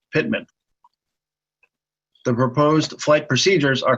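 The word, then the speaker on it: PTMAN: example the PT ma n waypoint would be pronounced Pitman the proposed flight procedures are colored purple for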